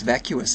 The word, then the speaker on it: vacuous: Is it It's not vaseious. It's vacuous, isn't it? That's That's a little That's a little pronunciation blooper.